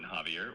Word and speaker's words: Xavier: Is that Javier with J as in Javier or Xavier with X. And how do you spell your last name? It's pronounced Javier but it's with a X. X A V I E R.